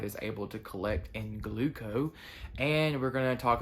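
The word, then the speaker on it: Glooko: All right, like I said in the intro, I'm going to touch on Gluco, which is the diabetes data technology or software that Omnipod is using. It's spelled Gloooko.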